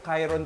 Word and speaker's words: Chiron: Pero Chiron pala ang pagkakabanggit, guys.